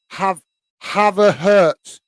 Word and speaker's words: Havertz: So it's Havertz without the H in Hertz.